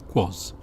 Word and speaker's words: Quaz: Quaz, a noun, both singular and plural, referring to anything strange, incongruous or peculiar. At its heart is the unknown, the mysterious. It rhymes with Oz.